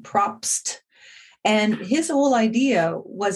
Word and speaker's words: Propst: I always mispronounce his name. It's Propst, Propst.